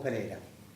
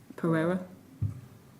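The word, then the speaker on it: Pereyra: Para. Yeah, Para. Okay. With with a Y, not an I. Pereira.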